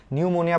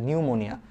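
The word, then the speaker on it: pneumonia: আগে একটু দেখো নিউমোনিয়া নিউমোনিয়া বানানের সামনে কিন্তু একটা পি আছে এটা তোমরা অনেকেই জানো কিনা জানিনা ওই সেইম ওই যে সুনামির মতো সামনে টি যেমন অনুচ্চারিত থাকে নিউমোনিয়াতে ঠিক তেমনি ভাবে সামনে পি থাকলে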